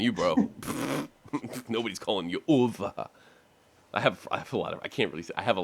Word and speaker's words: Uwe: mui in the states his real name is UA it it because it's spelled uh UWE so I know what